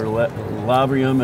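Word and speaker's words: Lavrion: But we always think about larium or lavrium, as it's pronounced, with its lead minerals.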